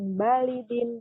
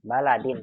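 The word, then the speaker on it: بَلَدٍ: Min ainahum akulluhum min balidin wahidin. Baladin, bukan balidin.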